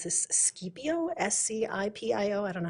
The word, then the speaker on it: Scipio: Diamond Valley, Elk Ridge, Hennifer, I'm gonna completely mispronounce this, Scipio, S-C-I-P-I-O, I don't know how to say that.